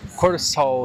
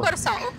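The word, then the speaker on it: Kòrsou: le parlement de coraçal regarde comment ça s'écrit curaçal ici c'est avec K avec un accent en corsal super différent corsol corsol il y a une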